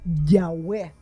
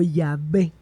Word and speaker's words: Yahvé: probable es Yahweé o Yahvé en español basándose en las evidencias lingüísticas. Formas de abreviaturas como el ya que aparece en el aleluya, que significa alabada ya, sugieren que la primera sílaba es ya.